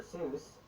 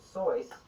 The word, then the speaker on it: Seuss: it that way, and Geisel himself eventually switched to the anglicized version.